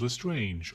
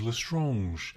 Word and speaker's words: Lestrange: Lestrange. Why didn't he just pronounce the word the English way?